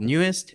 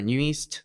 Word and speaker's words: NU'EST: year I promoted under a team called neest Nu or neest uh whatever you guys want to pronounce it however you guys want